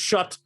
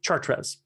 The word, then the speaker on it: Chartres: michel and shot although it's you know it's pronounced shut even though they mean i look at it and say chartres um terrific trip wonderful time uh france lives